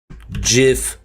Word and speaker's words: GIF: G like gym. GIF. G like girl.